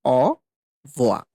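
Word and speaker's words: au revoir: আমরা একবারেই বলে ফেলি অ ভো মানে এই রো যেটা আছে সেটা কিন্তু সাইলেন্ট থাকে খুবই হালকা থাকে কিংবা অনেক সময় আমরা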